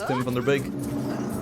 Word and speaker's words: Tim van der Beek: If you pronounce his name in Dutch, it's Tim van der Beek.